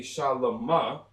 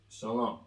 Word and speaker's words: Shalom: completely backwards you know it wouldn't be shal because of that connection Shalom now in the near